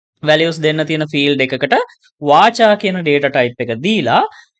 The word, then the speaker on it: VARCHAR: මේ VARCHAR කියන එක අපි pronounce කරනවා වාචා කියලා.